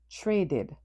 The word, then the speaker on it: traded: The word changes from one syllable to two syllables. Trey did. The final ed is pronounced id. Tra did. Traded.